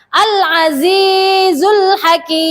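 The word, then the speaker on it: العزيز الحكيم: Bagaimana cara bacanya? Al-Azizul Hakim.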